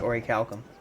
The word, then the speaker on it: orichalcum: very rare of orichalcum some people call it orichalcum i believe it is pronounced ori calcum very rare i've gotten